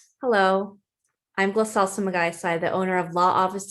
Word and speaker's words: Sumagaysay: My last name reads Sumagaisai, but it's pronounced Sumagaisai.